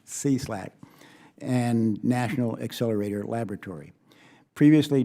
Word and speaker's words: SLAC: the stanford linear accelerator center center pronounced c-slack and national accelerator laboratory